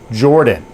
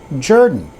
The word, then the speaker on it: Jordan: And for 90% of the world, it's pronounced Jordan. But I'm part of the 10% that pronounces it Jordan.